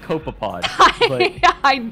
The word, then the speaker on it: copepod: oh yeah rare occasions abyssal cope copepod it's pronounced copepod i know and other park wildlife will venture